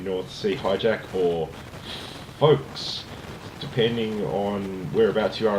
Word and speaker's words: Ffolkes: The particular DVD I have of it is called FFolkes, and it's spelled with 2 F's, as you can see there on the packaging. The reason being is, of course, the character that Roger Moore plays. His name is Rufus Folks, and that's the spelling of his surname.